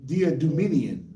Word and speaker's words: Diadumenian: His name is Diadumian Ian. That's bad, right? It's Diadumenian. Like Idumean, but he's not. Idumean with a D.